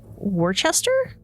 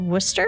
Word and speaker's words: Worcester: was like wait like the hockey team but it's spelled much different so this is w-o-o-s-t-e-r and that is it actually looks like Worchester but it said Worcester so he was named after a bottle of